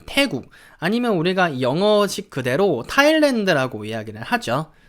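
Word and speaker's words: Thailand: 싸인만 사이렌 안하셔도 되고요 여기 그냥 h 는 무시해 버리세요 그래서 우리가 한국어로도 좀 알고 있는 타일랜드 라고 그대로 발음 해주시면 됩니다 근데 영국식 같은 경우에는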